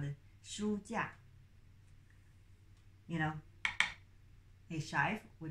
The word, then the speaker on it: 书架: know, sign to, how to say, mark the pronunciation, because we have full sound, yeah. 架, 书架.